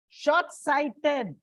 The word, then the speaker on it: short-sighted: said they are exceptions short-sighted it's on the second syllable soft-spoken that is why